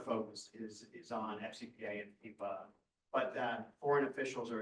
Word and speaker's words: FEPA: And what's the DOJ authoritative pronunciation? FEPA? F-E-P-A?